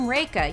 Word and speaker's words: Rekha: a little mnemonic like I'm Rekha you know like rake is in the thing for leave